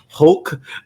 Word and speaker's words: Hulk: say Hawk Hulk wrong I always say haulk like Hawkeye and I'm instead of pronouncing the L Hulk um so there's a